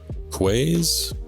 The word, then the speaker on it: Quay: Apparently in UK, Ireland, Quay is the standard.